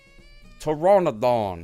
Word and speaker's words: Pteranodon: Pteranodon.